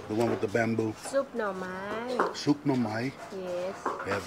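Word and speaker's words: ซุปหน่อไม้: How do you pronounce this dish? The one with the bamboo? Soup no mai.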